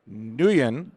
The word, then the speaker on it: Nguyen: We got a lot of great guests here, and we have a returning guest this year, Tom Nguyen. The G is silent, everyone, and we have him back here.